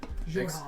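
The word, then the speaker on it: Xhorhav: Jorhov. XHOR. HAV. Jorhov.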